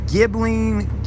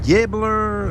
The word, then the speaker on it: Ghibli: Is it Ghibli, Gibbler, or there's no R in it, but anyways, I